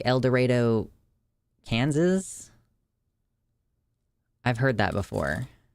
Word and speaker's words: El Dorado: Locals pronounce it El Dorado. Oh, is that, yeah, like El Dorado, Kansas?